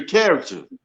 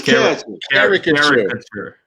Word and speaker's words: caricature: You get you a character. Mm-hmm. You're not saying it right. It's caricature.